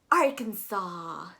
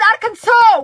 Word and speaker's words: Arkansas: am so sorry uh the s at the end is silent unlike kansas but and then you're also going to pronounce that a after the k much um flow weir are can saw you're gonna actually go with the u sound the reason for this